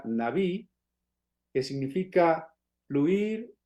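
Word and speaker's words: נביא: En hebreo la palabra profeta se pronuncia naví, que significa fluir o hablar, sobre todo hablar de parte de alguien, hablar de parte de otro.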